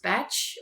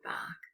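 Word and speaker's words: Bach: forms of treatment and his name is pronounced batch however for the sake of comparison to the composer bark a lot of people call him dr edward bark so he was a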